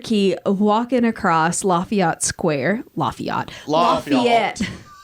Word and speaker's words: Lafayette: Lafayette. That's how they say it, Leah.